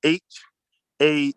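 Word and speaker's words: haa: to write the word h a a h-a-a and this is how we say the it's pronounced ha huh this is how we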